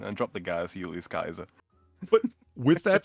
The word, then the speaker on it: Caesar: aware you was supposed to say Kaiser mhm yeah yeah yeah be honest could just read it Caesar well sure because it sounds good right but there's no sill there's no sedilla denoting the Soft C before an A so yeah it's it's a it's a hard it's a hard C mhm s not everyone